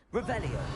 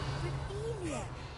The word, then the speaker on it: Revelio: Revelio. Revelia.